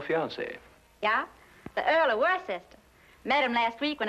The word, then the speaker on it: Worcester: Well, Freddie calls it something else too, Doc. But it's spelled W-O-R-C-E-S-T-E-R. Worcester.